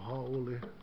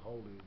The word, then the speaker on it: haole: More Haole. You know, I don't use the other version called Haole. They say Haole, but it's not really the proper way to say the word Haole.